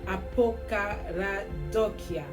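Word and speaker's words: ἀποκαραδοκία: The way it's pronounced is apokaradokia.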